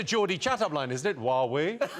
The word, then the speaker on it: Huawei: Huawei. See, the real injustice that it's not pronounced hui.